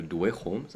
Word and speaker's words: Dweghom: Next factions, one of my favorites are the Dweghom or the Dweghoms, as I've learned they're pronounced.